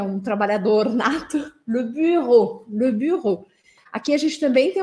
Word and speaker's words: bureau: questão de pronúncia interessante o som da letra U sozinha em francês é esse U com biquinho eu falo bu le Bureau Bureau e a letra e a u vai ter som de o então buro buro Tá mesmo que a gente